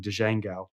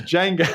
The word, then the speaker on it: Django: one of the videos I was like uh Django and everybody's like this isn't this isn't uh the Quentin Tarantino movie it's Django and I'm like oh